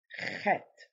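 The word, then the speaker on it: חית: Now this one, it's a CH. Now, for Americans, they would see that as sh pronunciation, as sh. But here, it's ch. Okay? It's ch. This is chet.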